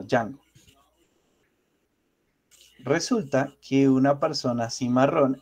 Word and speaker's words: Django: Pero no se pronuncia la D, sino Django.